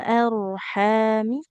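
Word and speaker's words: الأرحام: fil arhami ar huruf rnya tebal fil arhami kaifa yasya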